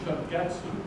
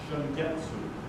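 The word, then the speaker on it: Shungetsu: And the cultivar name is Shingetsu, S-H-U-N-G-E-T-S-U. If you're wondering what that is, that's Japanese for spring moon. Long story about the name. Spell it again. S-H-U-N-G-E-T-S-U. Shingetsu.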